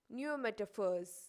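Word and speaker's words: pneumatophores: fruits are called as neometaphors you should be careful when you pronounce it because p is silent and we pronounce as new metaphors now we are moving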